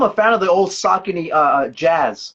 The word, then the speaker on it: Saucony: they Bobby, first of all, I love how you always properly pronounce brands because it's Saucony feather for me.